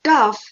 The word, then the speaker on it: tough: animals in a farm tough in the column for tough the words that sound the same are rough and enough these two also rhyme with puff and the main word